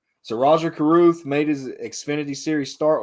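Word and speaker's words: Rajah Caruth: xfinity series roger okay tell me how to say this name because i'm going to screw it up is it rajaroo yeah that was good that's it okay all right so roger carruth made his xfinity series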